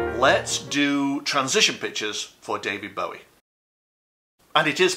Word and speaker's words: Bowie: let's do transition pictures for david bowie and it is pronounced bowie by the way how do i know because